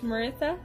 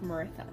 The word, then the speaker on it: Meiratha: so yeah martha also i forget how i wrote it to be pronounced i'm pretty sure it's maritha but i i probably say it wrong multiple times so yeah maritha